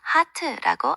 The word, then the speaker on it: heart: 예외의 경우 예를 들어 heart, 마음은 ERE 들어갔지만 heart라고 아 소리가 나요.